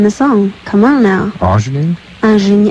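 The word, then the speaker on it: ingénue: Ingenue? It's actually pronounced ingenue.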